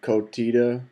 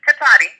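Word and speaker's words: Cotati: how to say the name of y'all's town, Kotita? Okay, it's Katati, and we are aware of the video, but we have no comment regarding that incident.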